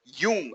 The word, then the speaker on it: Jung: If any of you are a student of Jung, or Jung, I do believe is the proper way to say.